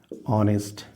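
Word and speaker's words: honest: लगा तो एन ऑनेस्ट मतलब जब H plus O H silent हो एच क्या हो साइलेंट हो और ओ के साथ आ की ध्वनि निकले उच्चारण में तो क्या लगेगा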